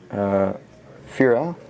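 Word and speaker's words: Firja: We got an etched Fira, Judge of Valor. I believe it's the J would be pronounced like a Y sound, being Norse from the Kaldheim set.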